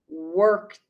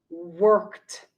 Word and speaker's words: worked: again watched worked washed it is important in this category that there is no extra syllable it is incorrect to